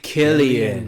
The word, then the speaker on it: Cillian: America, Cillian Murphy. With think of it like a K, except it's spelled with a C.